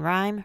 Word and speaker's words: rhyme: unique silent letter teams silent H of R H as in rhyme rhetoric sellin m and m